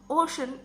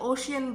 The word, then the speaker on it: ocean: छोटी सी मिसाल दूंगी, ओशन, ओशन, OCEAN, ओशन इज a correct pronunciation, लेकिन कुछ लोग इसे ओशियन भी कहते हैं।